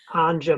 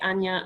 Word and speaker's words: Anja: no my name wrong now pronounced anya so being from germany the jade is pronounced differently but i keep saying your last name wrong even though i think all right so it would be uh anya not anja exactly so yes we both